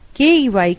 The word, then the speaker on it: key: examples spelling and pronunciation k e y key and q-u-a key are two different words denoting clear-cut different meanings but still they have the same pronunciation I don't understand why